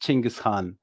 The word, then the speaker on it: Genghis Khan: have heard about uh genghis khan or as we pronounced chingashan you know the great